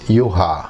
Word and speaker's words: Juha: Because I'm from Finland, so it's Juha.